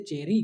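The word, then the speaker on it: cherry: चेरी इ किसमें आता है? वोवेल में आता है। तो वोवेल साउंड से पहले आर यूज़ हो रहा है। इसलिए इसको हम लोग प्रोनाउंस करेंगे। ठीक है ना? इसलिए चेरी कहेंगे।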